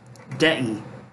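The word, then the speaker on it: δεῖ: Dei, or rather dei. You can see the accents over the last syllable there.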